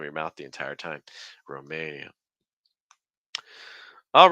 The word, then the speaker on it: Romania: another one final country Romania stress Maine okay watch out as you're saying Maine by the way for that a sound like it to the end so it's a it's not a Roma it's Roma keep the placement low lots of breath Roma and then again the E like we've seen in so many countries E Romania Romania you could say it